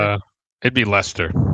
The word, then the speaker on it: Leicester: place in England like uh how do you pronounce it? Is it Lychester? L E I C E S D E R. Uh it'd be Lester. Lester.